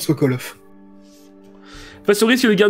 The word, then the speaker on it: Sokolov: Oui, et ça se prononce Sokolov.